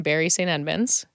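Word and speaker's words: Bury St Edmunds: So you're from Bury St. Edmunds. Did I pronounce that right?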